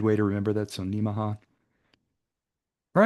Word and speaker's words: Nemaha: And by the way, that pronunciation is kind of like Omaha. It's a good way to remember that. So Nemaha.